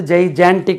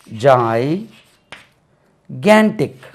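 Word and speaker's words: gigantic: இப்படி ஒரு வேர்ட் இருக்கு நாங்க படிக்கும்போது ஜைஜான்டிக் என்று சொல்லிக் கொடுத்தாங்க இதுக்கு ஆக்சுவலி இதை பாருங்க ஜை கேன்டிக் அப்ப நம்மளுக்கு எப்படி தெரியும் ஜைகேன்டிக் stress lies on the second syllable ஜைகேன்டிக் ஜைகேன்டிக் நம்ம படிக்கும்போது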